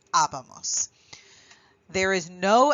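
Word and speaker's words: hablábamos: The big thing to remember here is that you have an accent on this A and that you do have to punch that in terms of the pronunciation so that you say habamos.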